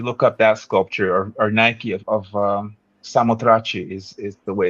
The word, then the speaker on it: Nike of Samothrace: But the Winged Victory, if you look up that sculpture or Nike of Samothrace is the way it's pronounced, but she's got wings almost like an angel.